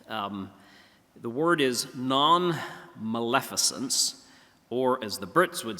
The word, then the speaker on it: nonmaleficence: one is sort of a hard word to pronounce um the word is nonmaleficence or as the Brits would say non Malin